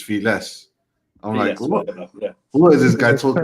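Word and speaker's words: Félix: he's going around saying pronounce my name it's not Felix it's feeless what is this guy talking about but I give him a seven out of 10.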